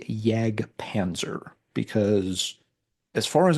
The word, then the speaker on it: Jag Panzer: It's just what I'm used to saying because of the German origin of the name.